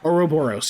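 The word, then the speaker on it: ouroboros: how do you say that oroboros oroboros yes that's it um but the image the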